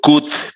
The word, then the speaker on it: could: Ni siquiera llego o sea, la L no se pronuncia, pero no digo could be, digo could be.